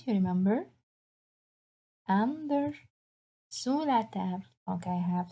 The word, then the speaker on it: sous: Après, on a sous la table. Sous. Again, I don't pronounce the S, so I ask you to cross it in class, right? Sous la table, it means under the table.